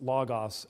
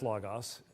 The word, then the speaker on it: Logos: certain word correctly and I don't mean that we need to pronounce logos as logos it is Lagos um it's logos in modern Greek it's logos in harassment pronunciation of ancient Greek and at least it's not as bad as the Christian School in Moscow Idaho which they call Logos which is not possible in any language anywhere so just and I